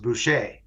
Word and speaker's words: Buche: My name is is spelled B U C H E which I think it used to be pronounced Buché.